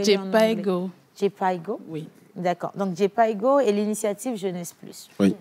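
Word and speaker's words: Jhpiego: C'est J-Piego. Moi, je l'ai lu en français, mais là, vous l'avez lu en anglais. J-Piego. J-Piego? Oui. D'accord. Donc, J-Piego et l'initiative Jeunesse Plus.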